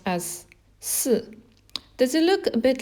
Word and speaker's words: 四: It's pronounced as si.